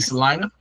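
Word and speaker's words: Celina: They beat Salina.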